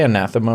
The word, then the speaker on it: anathema: Did I say anathema right? That's a word I see a lot written, but I No, don't anathema.